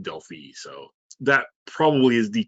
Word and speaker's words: Delphi: named for the place in greece and it's pronounced delphi so that probably is the technically correct way